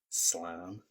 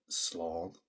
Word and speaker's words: slán: Remember, you may hear some people saying slán, slán, but that's just because of the different dialects. They pronounce some of the letters slightly differently, and we'll cover them at a later stage. For us, we're focusing on Ulster Irish, and Ulster Irish, it's slan, slan.